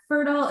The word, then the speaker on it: PherDal: PherDal is spelled P-H-E-R-D-A-L, but pronounced Fertile, but spelled with a P-H-D out of spite, which is really what launched this entire journey I've been on.